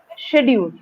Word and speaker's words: schedule: you throw sound like you cannot say um shedar that is wrong shadu is wrong right just listen to the Indians because we are Indians Indian pronunciation is it is schedule so that's correct the